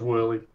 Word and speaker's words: Woerlee: i've been pronouncing your name wrong is it voulez if you want to say it in english okay all right yep just whirly just whirly okay um so we do actually